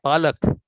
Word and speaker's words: Palak: pronounce someone's name properly if you pronounce her name as palak it's eyelash if you say palak it means spinach so that's the difference